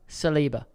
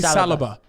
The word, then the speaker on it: Saliba: And I'm pronouncing this correct? Saliba. I was going to say Saliba.